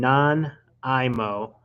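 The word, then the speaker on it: Nanaimo: And non-IMO bars. That's how you pronounce it.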